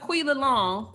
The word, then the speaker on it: Quila Long: And then I looked up Quila Long. That's how you say her name, Tequila. That's literally how you say her name and spell it.